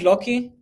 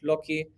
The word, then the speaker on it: Loki: might be old-fashioned but lucky or lucky how do you pronounce it like i think it's loki loki sorry so so like